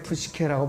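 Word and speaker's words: ψυχή: 혼은 헬라어로 이제 푸시케라고 발음을 해요.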